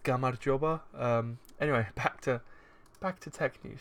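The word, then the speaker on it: გამარჯობა: It's pronounced Gamarjoba.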